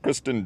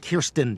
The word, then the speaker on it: Kirsten: He was in Spider-Man with Kristen Dunst. Kirsten Dunst.